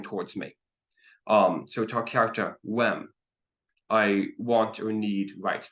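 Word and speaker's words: uaim: So ta kyarta wem. I want or need rights. The UAI is pronounced like a WE in English, approximately. So ta kyarta wem.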